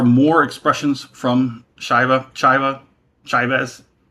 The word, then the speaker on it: Chivas: Yes, there are more expressions from Shiva Shiva Chivas. I like Chivas. I know they say Chivas. Shivas Shivas Shivas is equally acceptable.